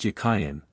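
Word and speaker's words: Jachin: of the two names the word jachen in Hebrew is Hebrew it was probably pronounced yakayan and meant as a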